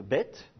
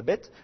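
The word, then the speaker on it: בית: lettre là la lettre bête vous allez tantôt la prononcer comme un B et tantôt la prononcer comme un V d'accord alors vous allez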